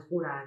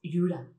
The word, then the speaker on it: Jura: Quiero la isla de Jura, no es la isla de Jura. Ese sonido que tenemos aquí es muy español, es muy del castellano. Realmente es Jura.